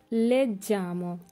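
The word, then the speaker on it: leggiamo: নই লেজ্জামো।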